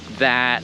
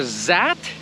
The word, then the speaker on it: that: different languages i understand that everyone has a different accent but seriously if you're saying zees instead of this or zat instead of that like do you not hear how bad that sounds or do you